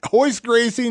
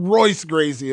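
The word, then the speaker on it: Royce Gracie: saying you better know it's hoist Gracie not Royce graci okay I'm just saying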